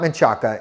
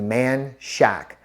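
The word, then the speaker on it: Manchaca: it's pronounced guadaloop okay another one is maaka it's not maaka it's actually man Shack why it it ended up that way I'm not 100% sure but it's man Shack another one is Bernett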